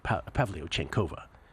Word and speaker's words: Pavlyuchenkova: Should have had you try to pronounce that. It's actually Anastasia Pavlyuchenkova.